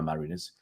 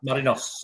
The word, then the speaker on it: Marinos: I think they still call Yokohama Mariners. Yokohama F Marinos. Oh, all right. Marinos. N-O-S it's spelled.